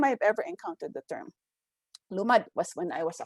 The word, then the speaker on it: Lumad: of Humanities Diliman, wherein I put an accent, right, on the first syllable, Lumad. And then he wrote back to me. He says, it doesn't belong the first, it belongs in the second, it's Lumad.